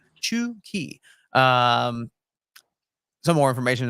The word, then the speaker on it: Chucky: pronunciation uh right there it's not Chucky it's uh chi chuki um some more information